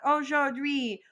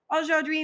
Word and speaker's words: aujourd'hui: This one can be kind of hard to pronounce, so I'm going to break it up into 3 syllables. So first off, we have O. Then we have jour, and then dui.